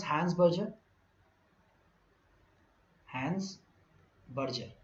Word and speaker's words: Berger: So, Berger rhymes with burger.